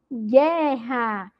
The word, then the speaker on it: guerra: então é pronuncio ó guerra Guilherme detalhe a letra U não é pronunciada Observe não é guerra né é guerra então a letra u não vai ser pronunciada Tá bom então segundo